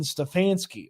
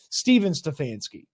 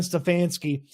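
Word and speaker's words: Stefanski: award that went to Brown's head coach Kevin stefansky or as the CBS new show that nobody's gonna watch actor said Stephen stansky not great for your show called tracker when you can't even track the right pronunciation of an award winner but let's Dive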